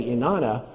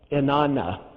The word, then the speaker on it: inana: now that I say inana even though it looks like Anna Anna on the page the way we pronounce this is in Aramaic inana one of them is